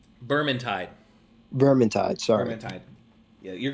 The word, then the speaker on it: Vermintide: They're the same makers of Vetramind and Vetramind 2. Vermintide.